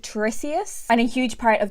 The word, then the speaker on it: Tiresias: I think the character or the legend that it depicts, I think his name or their name is pronounced Tiresias, and a huge part